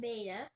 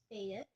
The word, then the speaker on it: beta: So it's alpha and beta. I was about to say bet, but it's beta.